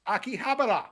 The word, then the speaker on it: Akihabara: The and of course, didn't realize until later it's pronounced Akihabara.